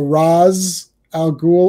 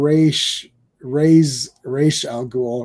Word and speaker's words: Ra's al Ghul: It's you can pronounce it Ray or Ra, and it's still correct. You could say Ray, so Raz Al Ghul, or Raish Al Ghul, right?